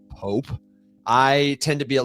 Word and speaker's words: POAP: Is there, in fact, an approved, correct, received pronunciation of POAP? So we try not to be too dogmatic about the thing. I think Poh-wop at some level belongs to everyone. Poh-wop and Poh-app are both fine.